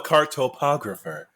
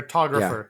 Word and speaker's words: cartographer: That's a Yeah, cartographer. you got too many syllables. Photographer? Nah, cartographer, my man. Accent on the wrong syllable.